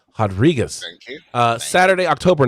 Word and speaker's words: Rodriguez: 39 durn versus rodriguez because she is brazilian so we're gonna pronounce the r as an h rodriguez uh saturday october 9